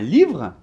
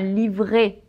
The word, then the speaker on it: livre: Donc par exemple, on va dire un livre. et pas un livret.